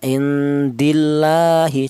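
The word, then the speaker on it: عِنْدِ اللّٰهِ: Cara bacanya indillahi situ. Tidak boleh dibaca tafhim. Indil indillahi tidak boleh. Karena lafal Allah ini didahului huruf yang berharakat kasrah ya.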